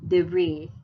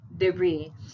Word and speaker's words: debris: next oh i would say this word is pronounced as debris debris so this one is silent no the brisk